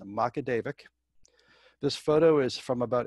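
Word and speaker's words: Magaguadavic: she is from macadevic new brunswick it is pronounced macadevic this photo is from about 1885 20 years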